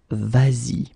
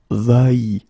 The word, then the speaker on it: vas-y: normally va like that, you will have to modify it and put this s here just to get the sound vas-y instead of va-y.